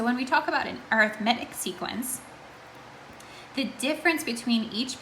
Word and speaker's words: arithmetic: And I know this word sounds or looks like arithmetic, and you're right, it is spelled the same way, but when we talk about it in a descriptive way, describing our sequence, we pronounce it as arithmetic sequence.